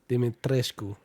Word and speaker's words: Dimitrescu: Well, they don't pronounce it like Romanian pronunciation. But how do you properly say it, Mike? Dimitrescu. Lady Dimitrescu.